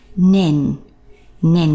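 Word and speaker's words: 年: with that lai, only we're going to be pronouncing the year part nen, which is a pronunciation you should be familiar with, for example, a primary school first year student. Remember we learnt shogaku ichi nen sei, so that nen means year.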